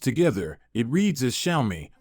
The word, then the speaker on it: Xiaomi: together it reads as shiai with the emphasis on the second syllable leay June claims that